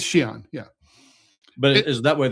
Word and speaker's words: Xi'an: Is that way in Western China, like in Xi'an? Xi'an. No, you pronounce it Xi'an.